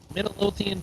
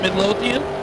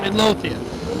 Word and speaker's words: Midlothian: top end Kenny promps and Terry Stewart Stewart Midian Texas Runner is that is that no not how you pronounce it Midlothian Midlothian is that not what I said oh okay